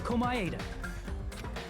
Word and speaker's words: Komaeda: The person who actually arranged this incident was the victim, Nagito Komaeda. Well, that's how you pronounce the last name.